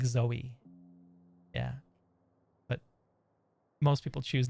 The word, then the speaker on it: Zowie: Um, it is pronounced like Zoey.